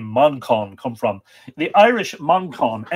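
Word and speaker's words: Manchán: speak and his name of course is Manon Manan and by the way if you're wondering where's that name Monon come from the Irish Monon M an c h a father n would be pronounced Mamon and it literally means little monk so it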